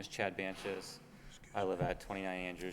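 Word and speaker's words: Bantjes: Banches. You spell that?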